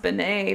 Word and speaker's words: Beane: correct way oh boy and you know it's pronounced Benet because the other way to spell it is